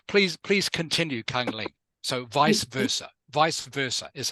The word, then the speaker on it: vice versa: Sorry, it is pronounced vice versa.